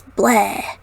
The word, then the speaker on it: Blegh: And then beside of it, of course, I had to throw a name in there that's Blah. Spelled like the lyric is spelled, BLEGH.